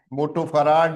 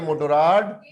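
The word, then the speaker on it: Motorrad: Spin, मोटो फराड नहीं है, मोटोराड।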